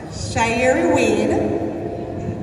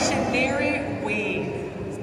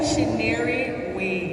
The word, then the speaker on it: Shaneri Wade: Shairi Wade. I pronounced it wrong, right? Shaneri Wade. Say it again. Shaneri Wade. Shaneri Wade.